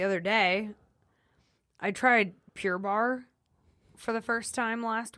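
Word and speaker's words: barre: like Pilates and ballet so bar like ballet not like uh not like The Whiskey Bar yeah yeah so it's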